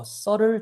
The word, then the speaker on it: subtle: 자, 우리는 이 조명 신호가 필요할 것인데 to provide 뭐를 제공하기 위해서냐면 a subtle change. 자, subtle이란 단어가 나왔어. 아까는 눈에 딱 보이고 명확하고 obvious 했잖아, 맞지? 근데 요 B는 발음 안 납니다.